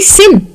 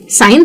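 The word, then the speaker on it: sign: जी का काम क्या है, अगर मैं जी को प्रोनाउंस नहीं कर रही होती तो मैं कहती सिन, साइन थोड़ी ना कहती, इसीलिए जी की जरूरत थी इन स्पेलिंग्स में।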